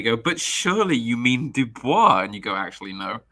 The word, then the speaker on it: Du Bois: a contrast to that W.E.B Du Bois uh as apparently you will usually hear it pronounced Dubois but that that is